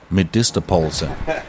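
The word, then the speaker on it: medisterpølse: She's also preparing something called Medistaposa or as they say, Medisttopulsa.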